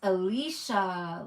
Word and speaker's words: Alicia: It's pronounced Alicia, like Alicia Keys.